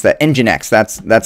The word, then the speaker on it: nginx: or not nginx i'm not sure how to pronounce that nginx that's that's how you pronounce that um uh